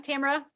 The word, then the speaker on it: Tamara: So hey, I'm Tamara, rhymes with camera.